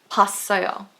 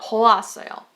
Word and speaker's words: 봤어요: 봤어요, not 보았어요.